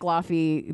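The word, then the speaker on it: Laufey: It's like Lafy literally the exact same way as the uh God of War. God of War, but it's pronounced with a V.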